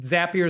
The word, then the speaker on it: Zapier: throw out uh, and Zapier is one that coined this. Um, rhymes with happier if you need to know how to say it.